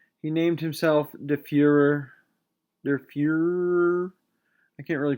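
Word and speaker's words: Führer: power in germany he named himself defurer their fuhrer i can't really pronounce it they're fuhrer of germany d e r the d e r f u h r e r f u h r e r der fuhrer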